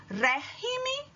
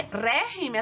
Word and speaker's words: régimen: A diferença está em a sílaba tônica de régimen, olha no ré, régimen. Quando você vai passar para o plural, ele vai virar regímenes. E régimen, a sílaba tônica é